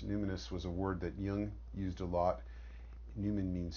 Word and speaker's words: Jung: She said, well, you should really read about Jung. At that time I pronounced it Jung, and the collective unconscious.